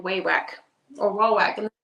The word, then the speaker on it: Wawak: So Monster said, the only reason I know it's pronounced Waywack is I got a phone call from them. I was wondering that too, because I hear people say Wawak, Waywack. I say Waywack, so that's good.